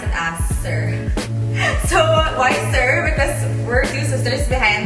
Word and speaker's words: Soeur: you're very much hanoi we just opted to pronounce an answer so why sir because we're two sisters behind this whole fashion